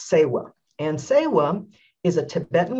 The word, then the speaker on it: Tsewa: ancient time and the concept i'm talking about today is pronounced sewell and sewam is a